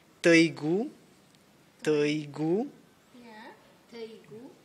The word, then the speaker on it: Teigu: Oh, But if you use my names, you can say Teigu, Teigu yeah. Teigu. How do you spell that?